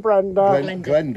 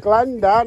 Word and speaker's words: Glenda: Dave and Brenda. Glenda, not Brenda. Hey, she's British, you know. It rhymes with Brenda, Glenda.